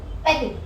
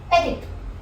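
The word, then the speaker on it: petit: पेटिट, पेटिट means small, just in case you don't know. So पेटिट में हम पैटी नहीं बोल रहे हैं, हम बोल रहे हैं पेटिट, पेटिट।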